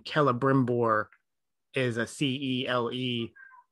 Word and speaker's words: Celebrimbor: So, for example, in Tolkien speak, if you start a name with a letter C, it's always a hard C. So like the name Celebrimbor is a C-E-L-E.